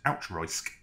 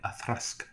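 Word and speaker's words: Auchroisk: It looks like it should be pronounced outroisk. But yes, no, apparently a thrask.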